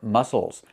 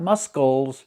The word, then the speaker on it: muscles: Remember muscles, not muscles. There's no sound. It's muscles. He's exercising to strengthen his muscles to make them strong.